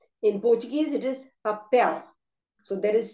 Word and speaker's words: papel: They both have 3 syllables and the stress is on the last syllable. So we have the papel, animal, natural.